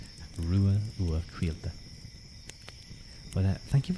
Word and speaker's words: Ruadh: My name is pronounced Rua Ua Quilta. Rua Ua Quilta. It's an Irish name, so it might seem a little bit confusing to pronounce, but trust me, the C is a Q sound.